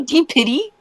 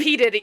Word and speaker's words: P. Diddy: Did you just say D Pity?